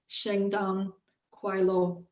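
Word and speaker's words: 圣诞快乐: And in Mandarin, a slightly different pronunciation, and because I don't speak Mandarin, I may completely get this wrong, but the way that I would pronounce it is Shengdan Kuai Lo.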